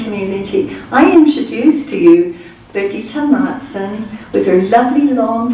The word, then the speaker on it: Birgitta: So Hans and Birgitta, am I saying it right? Birgitta? Yes. Birgitta. Hans and Birgitta are our heroes, and we've seen them online.